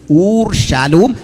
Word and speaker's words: ഊർഷാലോം: ഊർ ഷാലോം എന്ന് കൃത്യമായ ഉച്ചാരണം.